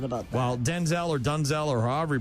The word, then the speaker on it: Denzel: Apparently, we've been mispronouncing his name. I saw Denzel. It's Denzel or Dunzel. Dunzel.